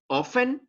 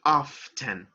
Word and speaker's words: often: so you can say often so you do not pronounce the letter t or you can say often but both are acceptable